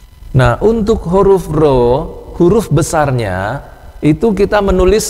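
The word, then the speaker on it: ρ: di minggu-minggu pertama itu mahasiswa kalau disuruh baca rho R itu dibaca P Bukan Ya bukan ini R ini r r nah R besarnya itu p p besar Nah untuk rho kecilnya itu seperti P kecil Ya tapi ini harusnya harus dibaca ro ya Nah untuk menuliskannya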